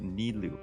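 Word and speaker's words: Nilou: she's a friends with Neu that's how you say her name n yes that's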